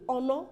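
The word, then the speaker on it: honour: h-o-n-o-u-r that's oh no you will agree with me that the H is silent so are you going to say a honor I'm giving her a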